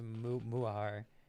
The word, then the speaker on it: Mutahar: Oh my, the T in Mutahar is silent, so it's a Muahar.